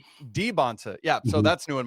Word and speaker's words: Dybantsa: Andy, we just went to BYU's roster where each player pronounces their own name. Yeah. And holy smok I've been saying AJ Debansa for the past three years. Andy Debbansa Debonsa.